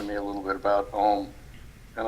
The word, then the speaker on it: Om: a little bit about Om, and I saw something about how it's actually pronounced. It's an A sound, a U sound, and then an M sound at the end, and I had never realized that.